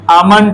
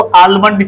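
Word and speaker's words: almond: आमंड, जिसको आलमंड चिल्लाते हैं, this is exactly pronounce आमंड, जिसको हम लोग बोलते हैं बादाम।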